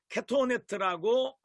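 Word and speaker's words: כתנת: 여기에 오늘 가장 중요하게 다뤄야 되는 부분이 이 가죽옷이라고 하는, 여기 사진에 보니까 케토네트라고 발음합니다.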